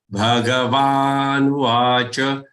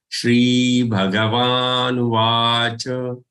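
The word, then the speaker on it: श्रीभगवानुवाच: Bhagavan Uvacha. Also, don't say Bhagavan Uvach. Don't break it like that. Bhagavan Uvach is a single word along with Shri.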